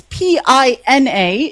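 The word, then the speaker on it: Piña: It's P I N A if Anhel if you can you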